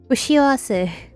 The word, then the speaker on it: 不幸せ: How do I pronounce her surname? Suki? 不幸せ Fushiawase.